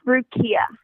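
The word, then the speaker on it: Rukiya: It's Rukia.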